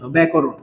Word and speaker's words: ব্যাকরণ: এই জফলার উচ্চারণটা এ এর মত হবে। তাই আমরা ব্যাকরণের উচ্চারণটা কি হবে? বজাফলা আকার মানে এ থাকবে। তারপরে ক র আর দন্তান্য ব্যাকরণ।